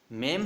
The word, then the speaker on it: meme: वहाँ पे आता है MEME, उसको बोलते हैं मीम, ठीक है। उसको क्या प्रोनाउंस करना है, मीम, MEME।